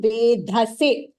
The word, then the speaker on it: वेधसे: Again, Vedhase, that is also Mahapranaha.